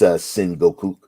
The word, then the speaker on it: Sengoku: Is that how it's pronounced? I'm glad. Yeah, because I think it's Sengoku.